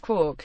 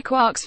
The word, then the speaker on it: quark: all beside the mark even though Joyce intended Quark to rhyme with markh and bark Gman liked the spelling